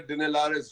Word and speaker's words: Dinelaris: Is that the way to pronounce it, Pawan? Alexander Dinelaris Jr.